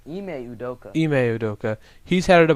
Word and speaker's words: Ime Udoka: Ike Udoka, I think that's how you pronounce it. I think his name is Ime Udoka.